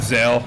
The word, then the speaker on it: Zale: right at it get let's get the proper pronunciation here yeah it's called Zale so Zale z a l e I like